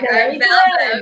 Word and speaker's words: Valvo: Valvo, yeah, not Valvo.